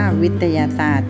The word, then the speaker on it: วิทยาศาสตร์: มนุษย์ อ่าน ว่า มนุษย์ วิทยาศาสตร์ อ่าน ว่า วิทยาศาสตร์ ซึ่ง ไม่ ออก เสียง ตัว ต่อ เต่า ร เรือ นะ มี คำ ว่า มนุษย์